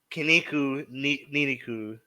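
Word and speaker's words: ニンニク: for garlic rhymes with the word for muscle. yeah. That's funny. So Niniku, right?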